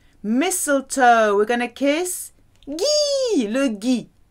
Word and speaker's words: gui: Mistletoe, we're going to kiss Guy, le Guy. Hard G sound, le Guy.